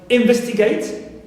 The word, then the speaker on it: investigate: example for uh eight like investigate so gate not stressed T not stressed and V is stressed anti penal also generate rate